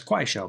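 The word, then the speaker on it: Kuaishou: That's Qua Show cuz no one can pronounce Show outside of China.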